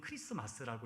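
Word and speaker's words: Christmas: 저희 아이가요, 아빠, 이 크리스마스를 보면 영어로는 T가 있는데 왜 우리는 크리스마스라고 이야기를 해요? 라고 질문을 하더라고요. 이제 이게 영어 문법상으로서는 이제 T가 묵음이기 때문에 발음을 하지 않는 것인데 저는 그 말보다요, 신앙적으로 얘기를 해줬습니다.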